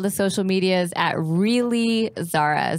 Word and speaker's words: Zahra: You can find me on all the social medias at Really Zara. Zara is spelled Zahra.